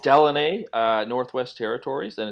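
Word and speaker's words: Deline: paper chase here uh it's del it's called delaney uh northwest territories and it's spelled d-e-l-i-n-e there there's another ufo sighting from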